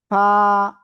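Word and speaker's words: ف: হালকা বাতাস বের করে উচ্চারণ করতে হবে। কিন্তু ফা ফা ফা সবাই একসাথে আনমিউট হয়ে জোরে জোরে বলেন।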